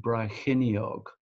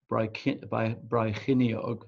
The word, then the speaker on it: Brecon: I think it's the Kings of Brecon, if that's the right pronunciation.